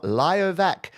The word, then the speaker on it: Liovak: play this one from Liovak, who has finally given me the pronunciation of their name. They said L Y like yoga.